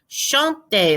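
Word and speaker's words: chanter: me help me it's this verb shonte like the word chant to sing shantae don't say to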